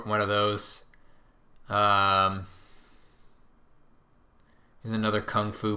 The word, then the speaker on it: kung fu: of those there's another kung fu book or gung foo if you want to pronounce it correctly strangest secrets this is